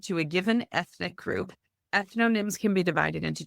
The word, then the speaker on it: ethnonyms: Ethnonyms. Ethnonyms.